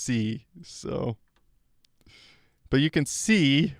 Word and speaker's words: SEI: know SEI was pronounced C. I I It's kind of cool. I learned that not that long ago, actually. I'm embarrassed to say, but SEI is pronounced C.